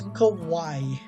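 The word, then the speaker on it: Kauai: And then this is Kawaii. Yes, it is pronounced the same the same way as the um Japanese word for cute as Kawaii.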